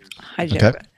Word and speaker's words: Hyderabad: How do you pronounce that? Hyderabad.